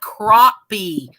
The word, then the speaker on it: crappie: this is an awfully crappy subject that's why I'm saying you know when people pronounce that word the fish is called crappie not crappy because why would you